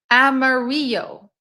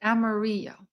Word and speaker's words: Amarillo: Amarillo. That's how you pronounce it. Amarillo.